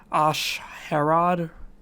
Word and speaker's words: A'Sharad Hett: ] is asharad het now you can pronounce this probably a few ways ash herrod i'm probably just going to stick with just a sharrod head because i just think it sounds better ah charade now ashrae